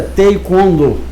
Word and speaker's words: Taekwondo: A pronúncia correta é Taekwondo.